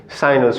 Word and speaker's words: sinus: No longer sine, cosine, or tangent. It's sinus, cosinus, or tangere. Okay, so thanks for watching, and I'll see you next time.